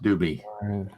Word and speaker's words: Dube: And then group B is the one with Dube in it, or Dubé. I don't know how you pronounce everybody's name. Doobie. Directly from Frank's mouth, it's pronounced Doobie.